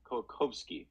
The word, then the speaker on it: Kołakowski: So Leszek Kołakowski. Sorry, the W it actually is to be pronounced with a V.